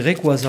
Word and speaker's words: Rayquaza: Rayquaza qu'on dit Rayquaza en français.